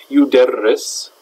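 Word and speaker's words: يُدَرِّسُ: In the present tense, it's yudarris.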